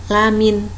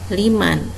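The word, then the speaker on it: لَمِنْ: Jadi hati-hati, lamin bukan liman. Kita sudah terbiasa membaca liman. Jadi di sini jangan sampai salah.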